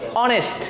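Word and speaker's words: honest: এটাকে উচ্চারণ আবারও করি অনেস্ট, আমরা এটাকে হনেস্ট বলি না, এটাকে বলে অনেস্ট, ও, দ্যাটস ওয়াই ও থা ওটা প্রথম উচ্চারণ হওয়ার কারণে কি ওটা ভাওয়েল, এই জন্য অ্যান আসছে।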